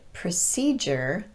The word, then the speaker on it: procedure: rule here's another one the ending on the word procedure was once pronounced as jur but it's been reduced over time to jur by american english speakers however we still follow the same pronunciation rule as if that d-u-r-e ending was not reduced so we pronounce it procedure not procedure and in a similar